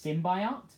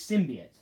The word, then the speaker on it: symbiote: also I noticed that hank azaria as Eddie Brock pronouncing it pronounces it's tim by art instead of symbian what just like the new film yeah well they say symbiote no one can get it right it's sim be it that's all it is